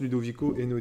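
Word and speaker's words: Ludovico Einaudi: vendeur si vous détestez la musique classique écoutés ludovic au hainaut dit ça c'est comme ça se prononce ludovic au hainaut 10 e n e il n a eu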